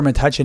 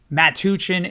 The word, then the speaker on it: Metuchen: Now, it varies on the pronunciation because the spelling from back in the 1600s, it varied. So the pronunciation is not 100% known, but Metuchen is what I found to be most common.